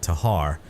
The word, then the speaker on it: Tikhar: saying that wrong, but I will be calling it the Tikhar because that's how it looks to me. But again, I've heard people call it Tahar, leaving the K silent.